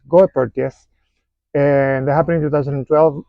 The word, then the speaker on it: Goeppertia: I was saying Joe pertas please go pertas and that happened in 2012.